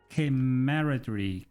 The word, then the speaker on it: camaraderie: Honestly, it does not even pronounce the way it's spelled. It's camaraderie, but it's camaraderie, which I hate.